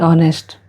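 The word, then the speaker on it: honest: Apple an hour an ऑनेस्ट अगर हम आवर ऑनेस्ट word को देखें तो यह एच से शुरू होता है जो कि कंसोनेंट है लेकिन इसका उच्चारण वॉवेल की तरह होता है इसलिए इसके पहले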